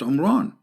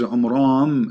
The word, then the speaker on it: Imran: of Mary is not Omron secondly he could not pronounce the name correctly of the father of Moses and Aaron because his name is Imran so the last letter is am not in so the foolish Mohammed he